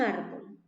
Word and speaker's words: árbol: ejemplo acá en un árbol árbol es una palabra que tiene cuántas sílabas dos perfecto árbol muy bien entonces la regla de la palabra grave se dice de que lleva la mayor fuerza de voz en la penúltima no en la última